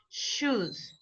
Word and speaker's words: shoes: choose and shoes exactly the first one is more like right this is like our chair like chicharrón janta Ludo right it is it is strong choose while the other one s H is like Shh right shoes right so be careful with that difference because you will pronouncing shoes instead of truth okay choose those chosen